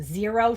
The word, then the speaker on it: Xero: My favorite one is the Zero shoes, but it's spelled with an X, Xero.